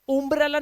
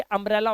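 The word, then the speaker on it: umbrella: ऐसे ही ये उम्ब्रेला नहीं होता, ये अम्ब्रेला होता है, क्योंकि यू के बाद एक कॉन्सोनेंट और दो कॉन्सोनेंट एक साथ दे रखे हैं।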